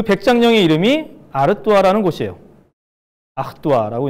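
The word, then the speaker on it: Artois: 아흐뚜아라고 이제 발음을 하는데 여러분들 요즘에 4개만 원 하는 맥주 중에 스텔라 아르뚜아 있죠.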